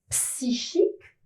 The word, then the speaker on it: psychique: me demande pas pourquoi, psychisme et psychique ne prend pas la sonorité que, on retrouve le che.